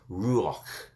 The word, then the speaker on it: ruach: It's ruach. It's R-U-A-C-H.